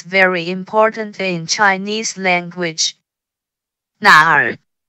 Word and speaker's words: 哪儿: When pronounced with the third tone, sounds like a question. This makes tones very important in Chinese language. 哪儿? 哪儿?